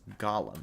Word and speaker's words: Gollum: ball but in lord of the rings it's pronounced gollum and his real name is actually smeagle miracle